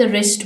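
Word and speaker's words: wrist: knock Yasir wrap the रिस्ट वच इसमें silent letter है प और रिस्ट में डब्लू लास्ट अहमद नी गट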